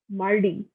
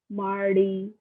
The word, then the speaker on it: mardi: So Monday is Lundi, Tuesday is Mardi, Mardi, Wednesday is Makhidi, Makhidi, Thursday is Judy, Friday is Wanjadi, Saturday is Samedi, Sunday is Dimash.